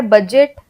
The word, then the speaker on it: budget: फिर D silent है, बजट, ब्रिज, मिडजेट। तो यहाँ पे हमने बडजेट हमने नहीं बोला, ना हमने ब्रिज बोला, हम बोलते हैं बजट।